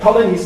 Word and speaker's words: Ptolemy: So, when you look at Ptolemy's map, Ptolemy, the P is silent, of Ireland, then you have a few names with P around which you don't expect.